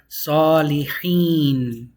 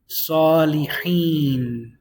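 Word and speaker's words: صالحين: Salihin. You pronounce a hin at the end because of this kasratain. Salihin. Whenever you stop on it, you can also say salih. And just put a sukun on it.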